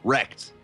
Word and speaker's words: WrKkd: right now how exactly how they want us to pronounce their name of wrkkd and uh i'm not entirely too wrecked okay wrecked okay there we go so it is team wrecked awesome guys i'm gonna